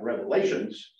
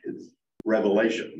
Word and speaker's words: Revelation: a on a Blackboard and people talk about Revelations well no it's it's Revelation or V readily and and therefore I think